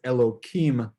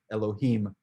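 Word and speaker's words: אלהים: uh the fact that it says elokim here is incorrect you know sometimes they will change or some of the the style is to change god's name so that we don't pronounce it but here it's not referring to god it's referring me elohim from all gods and therefore there's nothing sacred about this word so it should be elohim and not hello kim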